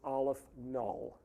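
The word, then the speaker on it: aleph-null: aleph the subscript is zero and that is pronounced aleph null which is a symbol for a certain level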